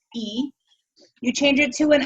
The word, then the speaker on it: y: that you change the the letter Y which means means and it's pronounced e you change it to